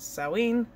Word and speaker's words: Samhain: Or it's Samhain, right, which is spelt Samhain, but it's pronounced Samhain.